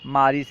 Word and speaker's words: مارس: ہیں مارس، فارسی میں سے مراد یعنی فارسی تلفظ مارس ہے، مارچ، مارس۔ اپریل، اپریل کا فارسی تلفظ